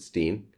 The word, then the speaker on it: Stein: Stein, they pronounce it Stein, by Helloween from 1988.